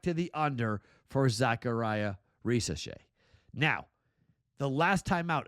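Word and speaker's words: Risacher: I mispronounced his name a while ago, but Zachariah Risache. I came close when I said it last time. Risache.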